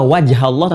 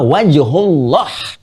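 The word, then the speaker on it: وجه الله: Lihat cara bacanya. Perhatikan betul cara baca. Lihat harakatnya. Bukan fatamma wajhallah, tapi fatamma wajhullah.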